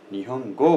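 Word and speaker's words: 日本語: language भनेको Japanese भाषामा चाहिँ जापानीज भाषालाई भन्दाखेरिमा निहोङगो भनिन्छ त्यसै छ तपाईको जापानलाई जापानलाई भन्न पर्दा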